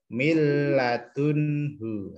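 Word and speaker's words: مِن لَّدُن: bacaan Idgham bilagun ilawunlah cara membacanya adalah milladunkan milladun seperti itu bukan Min juga tapi langsung masuk ke lam milladun namanya idgham adapun yang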